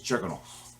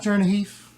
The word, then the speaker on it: Chernigov: I saw on Wikipedia that the real way to pronounce it is Chernigov. You know what I'm saying, man? It's not Chernihif.